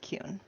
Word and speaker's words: Kuhn: And just for the records, my last name is pronounced Kuhn.